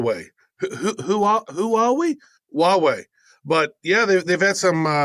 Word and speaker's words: Huawei: Travis write both yourself and myself have been ko Elle's for huawei I always have a hard time pronouncing it the Chinese tech giant did I pronounce it right Huawei you did Huawei you know it's funny as